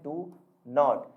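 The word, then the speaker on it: don't: अगर आपको बोलना है डू नॉट, तो आप इसे शॉर्ट फॉर्म में ऐसे लिखेंगे डोंट, और इसे बोलेंगे क्या, डॉन। क्लियर? प्रोनाउंसिएशन इसका करेंगे आप डॉन, है ना।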